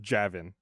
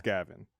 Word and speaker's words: Gavin: So it's vag spelled but said backwards because the G sound is different. Yeah. Yeah, but because it's a like a soft G instead of a hard G. It's not Javin. It's Gavin.